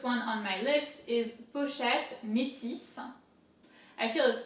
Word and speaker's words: pochette: So pochette, P-O, po, and then CH is sh, like sh. You tell somebody to shut up, sh.